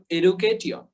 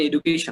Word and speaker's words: education: তাহলে উচ্চারণটা হবে টিওন, এডুকেটিয়ন। ঠিক আছে, উচ্চারণটা কি হবে? এডুকেটিয়ন। কিন্তু এখানে কি এডুকেটিয়ন হবে? না, এখানে এডুকেশন হবে, এডুকেশন।